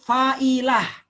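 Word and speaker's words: فاعلة: Fa'ilat. Itu bacanya jadi fa'ilah.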